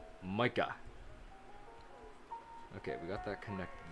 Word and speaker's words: Micah: It's spelled Micah, but pronounced Micah. Micah. It's pronounced Micah. The I is pronounced like a Y. Oh, yeah, I gotcha, yeah. Micah, like the word my.